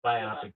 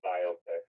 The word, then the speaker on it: biopic: Apparently both ways of pronouncing it are correct, but a lot of people would say biopic. But I do like the pronunciation of biopic better.